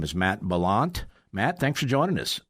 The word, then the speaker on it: Bollant: His name is Matt Bollant. Matt, thanks for joining us. Bollant.